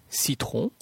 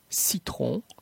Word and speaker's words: citron: La lettre C se prononce comme un S devant les lettres E, I et Y. Ce, citron, citron, cycle, cycle.